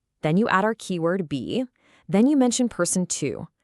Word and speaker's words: 比: Okay, so the magic character here is be, and we pronounce it be.